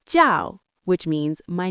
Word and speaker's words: 叫: The phrase is 我叫, which means my name is or I am called.